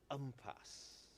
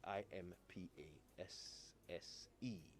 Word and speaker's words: impasse: word and it is umpas umpas okay and that is how it is pronounced in the uk umpas and uh it's still spelled the same way i m p a s s e all right there you